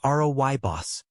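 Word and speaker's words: rooibos: One, Royos tea. Pronounced Robos.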